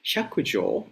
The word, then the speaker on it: Hyakujo: When Baijan, I'm sorry, I'm going to use the Japanese pronunciation, Hyakujo lectured in the hall,